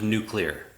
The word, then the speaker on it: nuclear: does that mean what people say nuclear versus nuclear I say nuclear I know most like nuclear